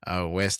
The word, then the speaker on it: Wiest: I think I said it right. Like I said, again, it's The Mountain Is You by Brianna West. That's Wiest.